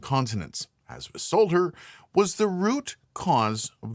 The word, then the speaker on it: solder: I, from here on out, will be pronouncing the L in Solder.